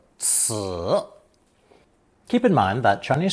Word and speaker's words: 此: Pronounced third tone, 此, 此.